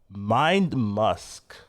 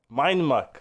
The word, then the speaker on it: Mind Muck: But yeah, moving on, we've got Mind Musk. So this one's very interesting. Yeah. What, did I pronounce it wrong? That's fine. Muck is fine. Muck. You're good. Mind Muck.